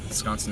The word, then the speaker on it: Wisconsin: in um i forgot the name of it wisconsin whiz was it's uh it's come to my attention that's pronounced the z like whiz wisconsin not whisk s s s six yeah so wisconsin the first three weeks were in green bay